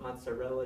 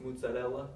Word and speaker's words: mozzarella: big um the cheese that you call a mozzarella cheese it's actually pronounced mozzarella in Italian and uh it's normally made the